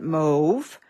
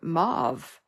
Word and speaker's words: mauve: I Googled it and found out Canadians pronounce it move but Americans pronounce it mauve so who knew I'm